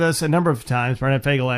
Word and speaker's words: Fogel: a number of times B fagel actually uh is his name he prefers that because that's actually how it's spelled uh the red light ticket